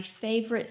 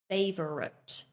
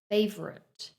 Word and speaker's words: favorite: it with three syllables, favorite. But that is not correct. Notice how in the middle we kind of condense two of the syllables together to make a weak sound. So it's more like favorite.